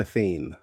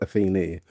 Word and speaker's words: Athene: By the way, it's Atheni.